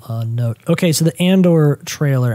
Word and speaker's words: Andor: note okay so the andor trailer am i pronouncing that right and or and or you're the star wars guy not me yeah i believe it's andor okay uh so and